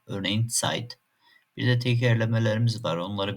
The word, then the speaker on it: Zeit: Sanki T ve S harfleri yan yanaymış gibi "ts" sesi çıkar. Örneğin "Zeit".